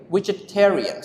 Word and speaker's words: vegetarian: Vegetarians. So we pronounce vegetarian. Vegetarians. Vegetarian. We stress on the third syllables.